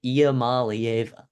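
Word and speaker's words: Iamaleava: you saw Nico Mala yes that's how you pronounce it IAM Mala well done write that write that down and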